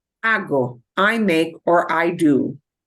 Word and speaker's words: hago: Hago, this G pops up out of nowhere. We do get an O, but it's not ako. It's hago, hago, H-A-G-O, okay?